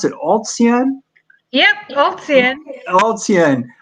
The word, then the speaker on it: ALTSEAN: This includes how do you pronounce it? ALTSEAN? Yep, ALTSEAN. ALTSEAN. ALTSEAN's ongoing intensive leadership program for diverse young women from Burma for the past 22 years.